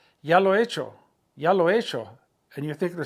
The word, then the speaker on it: hecho: it, lo he hecho, since H-E is silent, and then the H-E, the H is silent, so you got a, lo he, and then hecho starts with an H, that's silent, and then you go with the E, so those two E's run together.